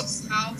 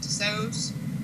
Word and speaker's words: Tussauds: Tussauds, I think is how you pronounce it, Tussauds.